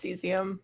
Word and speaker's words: cesium: kes iam and selenium right now it's actually pronounced cesium yeah okay always called HS you do call